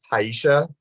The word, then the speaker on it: Taysha: I always call Taysha is how her name is spelled, and I always say Taisha, and it's Taisha.